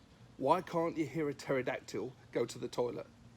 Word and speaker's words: pterodactyl: Hey Rexy, why can't you hear a pterodactyl go to the toilet? Because the P is silent.